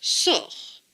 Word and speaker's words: sort: Le T ne se prononce pas puisqu'il est écrit en bleu. Donc ce mot se prononce sort.